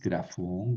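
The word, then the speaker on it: γραφῶν: el plural siempre grafay grafón grafis grafas grafay no cambia. Y aquí menos porque el acento está al final. Entonces, grafón, pues siempre va a ir el acento en la última sílaba.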